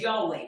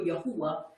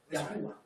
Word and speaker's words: Yahuwah: When we look up the word Yahuwah, or it says Yahweh, which is still Yahuwah if you pronounce it the right way. Yahuwah.